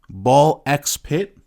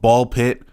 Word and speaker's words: Ball X Pit: Absolum Ball X Pit. And yes, I pronounced the X. I hear this game be called Ball Pit. There's an X there. The X is not silent.